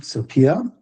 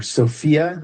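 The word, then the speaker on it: σοφία: Sopia. Yeah. Or Sophia in the traditional pronunciation.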